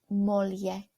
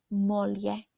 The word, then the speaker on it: moglie: Moglie. GLs in Italian sound more like an LY, so that's why it might have sounded a little bit different than you expected. Let's say that again. Moglie.